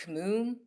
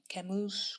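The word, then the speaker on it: Camus: And then I got really into Albert Kamoon, Camoose, Cammoon. I think the S is silent.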